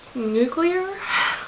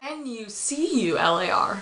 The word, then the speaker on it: nuclear: Because the words nuclear, N-U-C-L-E-A-R. Not NUCULAR. That'd be nuclear. But that's not a word.